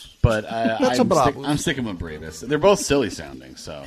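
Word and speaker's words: Brabus: Um, check out uh I started a car modding company called Brabbus. Um, apparently is it is pronounced Braavos is because it's very German. But I I'm sticking with Bravas.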